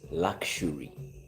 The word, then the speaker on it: luxury: You've been calling it luxury. The word is pronounced luxury. It's like where you see XU, it's like there is an SH with U. Luxury.